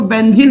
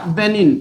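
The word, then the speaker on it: benign: बढ़िया से देखो भाई इसको आपको बेंजीन मत पढ़ लीजिएगा बेंजीन पढ़ लेंगे तो मीनिंग दूसरी निकल जाएगी आपको इसे पढ़ना पड़ेगा क्या बेनिन यहां पर आपका जो जी है वो साइलेंट होगा बेनिन इसको पढ़ेंगे और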